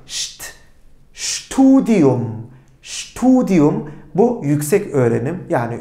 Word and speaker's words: Studium: Peki S ve T harflerini bir arada gördüğümde bu şt şt şeklinde telaffuz ediliyor. Şt studium studium bu yüksek öğrenim yani üniversite eğitimi anlamına geliyor.